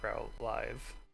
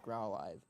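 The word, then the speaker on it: Growlithe: It's growlive. No. You want me to smack because it's growl and live. Live is a word. Yeah. Live is a word. It's not growl live. It's 100% growlive.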